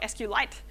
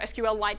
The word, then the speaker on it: SQLite: I'm not going to go through all of this in a great detail because previous talks have talked about SQLite or SQLite, depending on how you pronounce it.